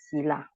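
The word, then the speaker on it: sīla: Tila is from the Pali word Sila.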